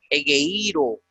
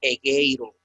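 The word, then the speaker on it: ἐγείρω: regla del griego que un espíritu o un acento que deba ir sobre un dictongo siempre se colocará en la segunda vocal del dictongo. Entonces es incorrecto de leer egeiro, debe ser egeiro.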